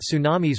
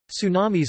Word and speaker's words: tsunami: dropping the t, since English does not natively permit ts at the beginning of words, though the original Japanese pronunciation is ts. Tidal wave. Tsunamis are sometimes referred to as tidal waves.